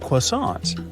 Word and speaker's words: croissant: yup, they got that croissant thing that most people can't pronounce right. Hey, did I nail it? Maybe put a little French honk on it.